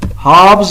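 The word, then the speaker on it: halves: हाफ्स पढ़ेंगे, हाफ्स यानी कि एल साइलेंट होगा।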